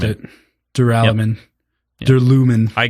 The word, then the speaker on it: Duralumin: I called it Duralumin, which is dumb. It should be Duralumin. Duralumin. Also works if you're pronouncing aluminum as aluminium, which for most of the world is correct.